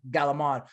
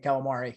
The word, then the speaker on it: calamari: say it all wrong because nobody actually in italy says galamond they actually do say calamari so i just thought